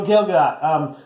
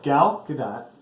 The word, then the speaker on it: Gal Gadot: So Gail Gadot. So she's okay. Yeah, She's just playing her part. I said it right. No, you said Gail again.